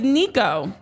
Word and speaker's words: Nikau: name in the video Jamie heard it played and still said it wrong several times but yes it is Nico uh yes and he